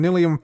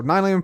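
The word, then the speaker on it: nylium: uh we have some nilum facts or nyum facts so nyum fact number six nyum isn't is in fact pronounced nyum not nilum like those bums across the street clim uh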